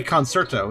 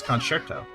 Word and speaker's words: concerto: thanks to this game some people say concerto that's not how you say it's concerto does this game have a musical theme and that's why it's called tail concerto not really the fact